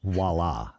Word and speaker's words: voila: be in paris next week and help us pronounce voila well some people like music from a viola